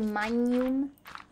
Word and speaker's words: Magnum: brand name in English Magnum we Ed Magnum Magnum we we have that weird sound in Italian instead manum that's how it would